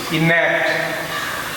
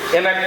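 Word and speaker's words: enact: পরের শব্দটি যেটা ইএনএসিটি, ইন্যাক্ট। ইন্যাক্ট, ইন্যাক্ট, এটা কিন্তু এনাক্ট না, ইন্যাক্ট।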